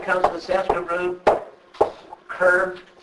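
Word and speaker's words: कृ: It comes from the Sanskrit root cur. It's pronounced something like the English word cur, as in you cur. So, and or sometimes pronounced like cree.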